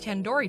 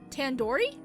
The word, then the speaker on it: tandoori: Surely you at least recognize tandoori chicken. You're saying it wrong. Wait, really? Tandoori? Tandoori. The do isn't like in door. It's like doo-doo head.